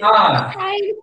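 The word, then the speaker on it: hour: Now, students, as I told you in yesterday's class, here H is there, but it is silent.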